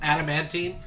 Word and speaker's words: adamantine: Am I pronouncing that right? I believe it's adamantine.